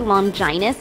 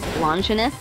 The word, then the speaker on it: Longinus: Why do you say Longinus instead of Longinus? Because it is the proper way to pronounce it. Though some regions say it the other way.